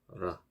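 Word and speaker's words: راء: 라 이렇게 라. 그리고 요 발음 기호는 영어의 R이고요. 요 라 같은 경우도 발음하기가 어려운데요. 영어의 R과 같습니다. 그래서 이 혀가 윗니 잇몸에 닿듯 말듯하게 굴리면서 내는 소리입니다.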